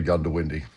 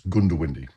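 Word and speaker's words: Goondiwindi: First of all, how do you pronounce the bloody place? Well, look, um, most people say Gundowindi.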